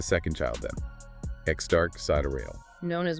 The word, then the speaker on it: Sideræl: Pronounced Sideræl. It's an Elven spelling again for sidereal.